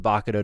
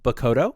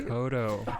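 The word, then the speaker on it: Bakudō: is to use the Bakudo to create a new order. It's actually pronounced Bakodo, by the way. Bakodo.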